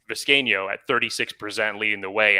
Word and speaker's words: Vizcaíno: Vizcaíno, right? Is that we pronounce it 4 syllables? Tristan Vizcaíno.